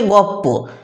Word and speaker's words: গল্প: আরও উদাহরণ দেখো, গল্প থেকে গপ্প ছিল ল আর প, হয়ে গেছে প আর প, অর্থাৎ লটাকে পাল্টে দিয়েছে জীব, পয়ের জায়গা থেকে উচ্চারণ করে দিয়েছে।